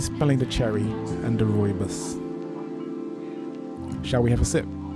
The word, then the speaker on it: rooibos: Rooibos? I don't know. Let me look it up so I can say it properly. Let's see, how do you pronounce it? Let's see, pronunciation. Let's listen to that. Rooibos.